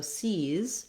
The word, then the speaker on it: sees: So sees, he sees the size of the shoes, has that tense E and that Z sound, even though it's spelled with letter S.